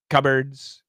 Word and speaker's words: cupboards: cupboards there's no p the p is gone adios and this sounds exactly like birds cupboards cupboards black birds black